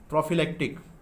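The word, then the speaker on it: prophylactic: Pronunciation क्या होता है इसका? प्रोफिलेक्टिक। क्या बोलेंगे इसको? प्रोफिलेक्टिक।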